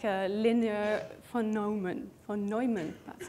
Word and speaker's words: von Neumann: So CPU 1 is like a linear von Neumann, that's how you say it, process, meaning it takes things step by step.